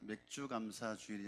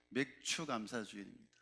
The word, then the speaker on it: 맥추감사주일: 맥주감사주일이 아니라 맥추감사주일입니다.